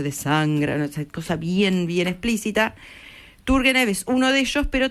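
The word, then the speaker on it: Turguénev: ruso que llama IV tur turgenev turgenev se pronuncia que es amigote de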